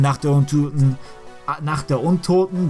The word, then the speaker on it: Nacht der Untoten: can go outside in Nacht der Untoten, that's what it's pronounced in German.